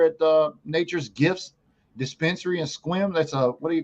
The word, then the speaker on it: Sequim: and now he's on the show in his Squim dispensary that's out there in Squim, Washington. Y'all don't know how to spell that.